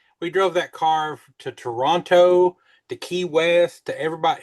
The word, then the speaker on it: Toronto: It starts with a ch. There's no T's in it. There is a T in Toronto. No, not phonetically. There's not. Oh. Oh, I got you. Toronto. Toronto. As if you're starting to say churro and then you just say Toronto.